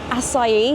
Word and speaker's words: acai: Acai, now I know how to say it.